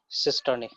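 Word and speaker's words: cisternae: इस तरीके से कुछ स्ट्रक्चर दिखेगा, है ना, इसको हम लोग प्रोनाउंस करेंगे सिस्टर्नी।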